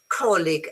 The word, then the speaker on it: colleague: Bridge is as in gem, colleague as in game.